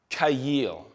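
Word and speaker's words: חַיִל: there let's go to the Hebrew word which is honestly just as amazing and it's pronounced cayil not only does it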